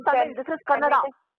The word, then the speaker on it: Kannada: This is not Canada. This is Kannada.